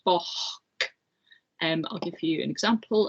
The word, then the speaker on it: boc: So the word for a goat is spelt B-O-C and it's pronounced boch.